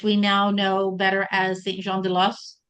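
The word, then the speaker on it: Saint-Jean-de-Losne: And it's going from Dijon, which we now know better as Saint Jean de Los or de Lone, as some were telling me that it's pronounced.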